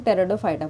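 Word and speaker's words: Pteridophyta: यहाँ पे P silent है, इसको हम टेरिडोफाइटा बोलते हैं, ठीक है।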